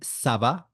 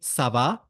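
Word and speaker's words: ça va: we can say this by K SAA and Sava so K means Howa means How does it go how is it going you can also say Sava when asking a question so it could be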